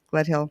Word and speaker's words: Gledhill: that whole space and his name is Gledhill and I'm pronouncing your last name correctly Gledhill you're pronouncing it correctly yes thank you girl thank